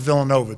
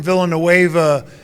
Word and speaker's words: Villanova: kid from i think he mispronounced villanova too he said the kid from villanueva huey long old you